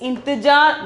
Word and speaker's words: इंतज़ार: Then 94 is intijar. 94 is intijar. The pronunciation is intijar.